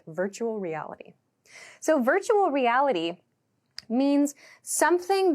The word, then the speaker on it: virtual reality: At native speed this sounds like virtual reality. So, these r and l sounds kind of connect, virtual reality.